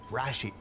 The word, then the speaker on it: Rashid: I emphasize the first syllable, Rashid. Rashid, do you have a preference?